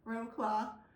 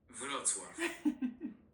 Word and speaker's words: Wrocław: Um that's how we would pronounce it is Wroclaw. But it is actually Wrocław.